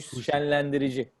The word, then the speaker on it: Şenlendirici: How do you pronounce his last name? Hüsnü şenlendirici.